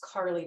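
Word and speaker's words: Carleigh: It's Bodrug, and her first name is Carly, but it's not spelled with a Y, it's spelled with an EIGH.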